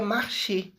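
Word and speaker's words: marché: O e do final não pronunciei. Se fosse o de baixo que tem ali, seria marchê, porque o acento ag tem som de e.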